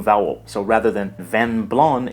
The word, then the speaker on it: blanc: in Italian vino Bianco in French van blown here the final C is silent so the last sound